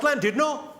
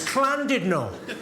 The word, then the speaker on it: Llandudno: This guy, front and centre, where you're sitting there, face like fucking thunder, went, "It's not Llandudno, you bloody fool. It's Llandudno. In Wales, the double L is pronounced with a C."